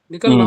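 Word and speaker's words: निकलना: நிக்கல்னா ம் நிக்லோ நிக்லியே.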